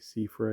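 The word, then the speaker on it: Seifer: Uh, cipher. Do you say cipher? Some people say cifer. I think um I don't know how else you might pronounce that. Cfer I say cipher duelist flame.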